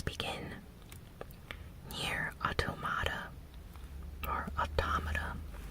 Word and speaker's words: Automata: here Otto mata or automata i believe it's pronounced auto mata but it was recently